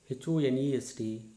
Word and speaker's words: honest: H is silent. For example, HOUR, our, HEIR, air, HONEST, honest, HONOUR, honor, HONORO, RIM, honorarium, HONORARY, honorary, HONOURABLE, honorable.